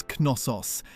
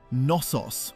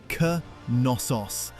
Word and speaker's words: Knossos: It isn't nosos with a silent first letter. The K is pronounced and the stress lands on the last syllable. C nos.